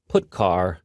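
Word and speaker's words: putchar: these three are the most popular they are pronounced printf putcar and puts each function is designed to send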